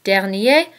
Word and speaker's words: dernier: Prochain and prochaine both mean next, so be careful here because there is a difference in the pronunciation. Prochain, prochaine. Dernier, dernière.